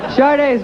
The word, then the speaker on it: Sade: So, Sade's got a new album. Buckle up, we got some bumpy transitions here, folks. Sade's got a new album.